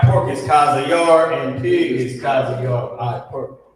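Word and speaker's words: חזיר: So, Cha-Za, the character Yah, and the character Ra connected, Yar, Chazayar. That's how you pronounce it. Chazayar.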